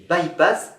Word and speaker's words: by-pass: rocade de france baptisé bypass ça veut dire contournement en anglais à bas-lieu on le prononce by pass aujourd'hui encore il sert